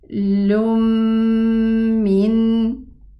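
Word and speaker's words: تنزيل من: So we are going to pronounce it like this. Lum min.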